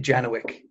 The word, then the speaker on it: Janowczyk: your last name uh we pronounce it janowic which i think is a very americanized version of that it's the americanized version